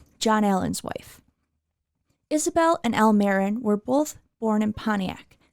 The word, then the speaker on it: Almeron: And just a note on that name, in some older presentations you will find museum staff pronouncing his first name Almeron, but recently members of the family approached us and told us that they pronounce it Almeron, so we made the change.